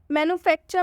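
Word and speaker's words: manufacture: ठीक है, मैन्युफैक्चर में ये आर ई है लेकिन इस आर ई का उच्चारण हम र से ना करके इस आर ई का उच्चारण हम अ से करेंगे।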